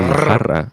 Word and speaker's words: jarra: So in jarra, it would be double R.